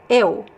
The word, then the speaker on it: eu: I'll pronounce this word is eu. Eu. Eu. So the first sound is e, and the second sound is u. Eu.